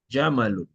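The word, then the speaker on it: جمال: Jamalun. Jamalun unta. Tak boleh cakap Jamal. Jamal. Kalau mimnya panjang itu yang beza.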